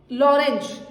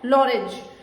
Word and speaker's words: Lorenz: उन साइंटिस्ट का नाम था लॉरेंज, ठीक है। स्पेलिंग होगी लॉरेंज की LORENZ, ठीक है। बहुत जगह पर TZ लिखा है, लॉरेंज।